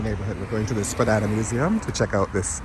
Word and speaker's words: Spadina: So it's, and I saw this thing on Instagram about the pronunciation of Spadina, which apparently is Spadina, but who will ever say that?